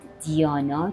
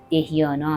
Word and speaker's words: dhyana: تلفظ میشه و بعد دیانا که دهیانا هم تلفظ میشه و بعد سامادی که